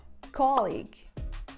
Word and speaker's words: colleague: e a gente fala colleague. Colleague. A gente usa, nessa primeira sílaba, a gente usa o O aberto, que nem o O do final da palavra vovó.